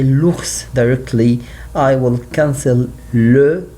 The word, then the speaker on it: l'ours: If I talk about the, I say l'ours directly. I will cancel le, like we see here with le serpent is le, will be l'apostrophe because I have vowel, will be l'ours.